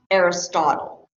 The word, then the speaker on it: Aristotle: A college-educated person is going to know that this is pronounced Aristotle. That's the proper pronunciation. Somebody who is not college-educated, because we all hear about Aristotle in college, is going to say Aristotle.